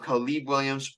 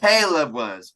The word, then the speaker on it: Caleb Williams: draft either one of khib Williams or Drake Caleb say his name right why you keep calling him khib that's racist wait was it what's his name called Caleb not K Caleb Williams my apologies my apologies